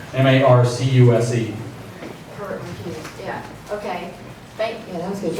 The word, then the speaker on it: Marcuse: Herbert Marcuse. So you probably pronounce it on first sight as Marcuse. M-A-R-C-U-S-E.